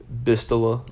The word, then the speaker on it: Bastila: I'll go with Bass because Bass is a pretty, Bastila is pretty, or Bistila, however you want to pronounce it. I always say Bastila.